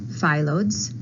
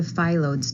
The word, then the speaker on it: Phyllodes: First of all, there are a few different pronunciations of the word. Phyllodes, Phyllodes, or Phyllodes. I am going to use the Phyllodes tumors pronunciation. Phyllodes comes from the Greek word meaning leaf-like.